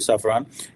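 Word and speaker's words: Safran: सफरान obviously इसकी exact pronunciation यही होगी सफरान, कि वो जॉइंटली जो है वो डेवलप करे, डिज़ाइन करे, मैन्युफैक्चर करे इंजन्स जो कि इंडिया को दिए जाएंगे।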